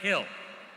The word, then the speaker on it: Hill: Second last name is pronounced Hill. Hill.